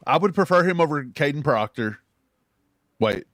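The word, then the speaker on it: Kadyn Proctor: No, I would prefer him over Caden Proctor. Wait, did I say his name right? Caden Proctor? Yeah.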